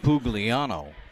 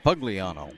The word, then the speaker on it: Pagliano: yards on that pitch is AJ pugliano pagliano I said it wrong the first time coach is going to